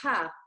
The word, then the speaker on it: ح: The other letter is the Ha. The Ha is the 7. Okay, and how do you pronounce it? It's an H, but very deep, also from the bottom of your throat.